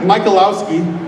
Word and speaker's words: Michalowski: To get a second opinion, I reached out to a man by the name of Kevin Michalowski. That is how you pronounce his name, but he's the executive editor of Concealed Carry magazine.